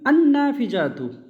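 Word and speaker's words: النافذة: বই, বই থেকে বইটি করতে গেলে কিতাবুন, আল কিতাবু, জানালা, না ফিজাতুন, নুন এমন একটা হরফ যার আগে আল আসলে নাম উচ্চারণ হয় না, তো না ফিজাতুন, আন্না ফিজাতু, জানালাটি।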